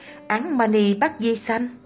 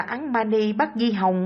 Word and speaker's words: Án Mani Bát Di Hồng: Nhà sư thở dài tiếc nuối, bà lão ơi, bà đã đọc sai câu thần chú đó rồi, phải phát âm là Án Mani Bát Di Hồng mới đúng.